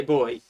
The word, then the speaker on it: buoy: We say boy. Buoy kind of makes sense because it's spelled that way, I understand that.